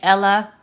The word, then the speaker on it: ella: So instead of saying Ella, Amarillo, and Lamar, it's actually pronounced ella, amarillo, llamar. Okay? Anytime you see two L's, it's pronounced like the y sound, like a Y.